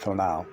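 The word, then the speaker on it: tonal: Mexico I knew that the toon Now Pronounce pronounced T now was thought to be a kind of godian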